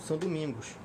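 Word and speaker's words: Saint-Domingue: Elite na região de São Domingos é São Domingos em português mas tem fala são doming porque é a pronúncia a Francesa não estudos acabei acostumando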